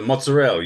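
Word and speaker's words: mozzarella: It's you know it's a mozzarell you know they don't uh they don't pronounce the vowels at the end you know they clip it off mozzarell yeah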